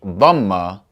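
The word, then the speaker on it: ضمة: This is the dhamma, which sounds like the English U, U.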